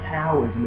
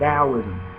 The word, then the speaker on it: Daoism: t is a du sound dosm it's not taism it's dosm Daoism is represented by the yin and the Yang